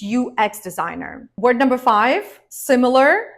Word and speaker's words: UX: need to remember that acronyms in English are pronounced as separate letters of the alphabet that's why we say